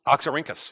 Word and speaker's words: Oxyrhynchus: pronounce it again? Oxyrhynchus, yes. Oxyrhynchus.